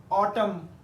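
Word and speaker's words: autumn: पढ़ते हैं column N की आवाज नहीं है ऑटम एन की आवाज नहीं है डम हिम कंडेम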